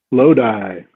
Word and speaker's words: Lodi: Lodi. Lodi. Is that how you pronounce it?